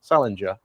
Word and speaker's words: Salinger: Salinger. Salinger like ginger. Not salinger like apparently.